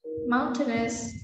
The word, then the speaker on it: mountainous: overall good one mountainous so it's like the way you pronounce dangerous you don't say dangerous mountain is as easy as that mountainous dangerous okay so that's it i